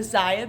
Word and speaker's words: Zyia: I also started a Zaya business.